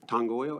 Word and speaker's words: Tangoio: the best we can tangoo is how I pronounce it and that's I can't